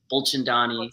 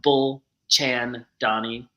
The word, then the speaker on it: Bulchandani: is Instagram Dr bullin Donnie buchin Donnie is how you say my last name um bull Chan Donnie is usually so I slow down yeah it's like